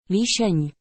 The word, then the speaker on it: Líšeň: Líšeň.